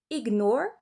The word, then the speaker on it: ignore: En anglais, on va prononcer le G g et le N n. Donc ça va faire ignore, recognize, magnet.